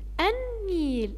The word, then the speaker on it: النيل: طيب بعد كده النيل، النيل اللام ما نطقتهاش، والنون عليها ايه؟ عليها شدة.